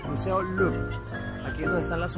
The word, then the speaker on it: Louvre: Creo que está bien pronunciado, no se pronuncia la R. Museo Louvre.